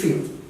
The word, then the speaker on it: few: For example, you can say few is it's not foo, it's few.